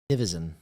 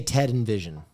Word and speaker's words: Nivison: I used to say Ted and Vision. Ted and Vision. Which was wrong.